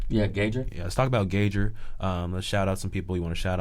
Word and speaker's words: Gaugr: into it let's talk about um is it pronounced engager yeah gauger let's talk about gauger shout out some people